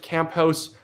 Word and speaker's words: Camphouse: Brian he says, pronounced Camphouse. Brian Camphouse for $6.99.